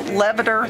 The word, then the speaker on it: levator: it's three separate words so levitter like you levitate means to to come up so levator comes up